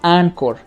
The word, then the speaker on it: Anchor: esa aplicación se llama ancor se pronuncia así pero se escribe anchor porque viene del inglés and work es una